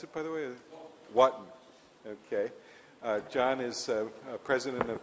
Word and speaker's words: Wotton: Is that how you pronounce it, by the way? Wotton.